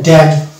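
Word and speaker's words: damn: তাহলে এখানে উচ্চারণটা কি হবে, এটা হবে ড্যাম, অর্থাৎ এন এখানে বাদ গেল, এটা হচ্ছে ড্যাম।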